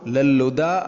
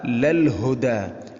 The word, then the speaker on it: للهدى: അപ്പോൾ ലല്ലുദ അല്ല ലൽ ഹുദ, ലൽ ഹുദ എന്ന് ശ്രദ്ധിച്ചുകൊണ്ട് ഹാഇനെ ഉച്ചരിക്കണം.